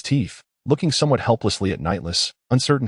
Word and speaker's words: Nightless: You mispronounced the name again. Though I am the one you assume. My name is not Anamaru. It is Nightless.